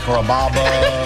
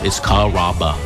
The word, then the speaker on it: Carrabba: Carrabba, Carababa, Caramba. It's a really easy name to pronounce. It's Carrabba. Come to Carrabba's for dinner.